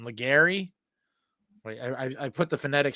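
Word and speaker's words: Légaré: Legary? Wait, I put the phonetic spelling in my phone. Some of these names really throw me through a loop. Yeah, Legare.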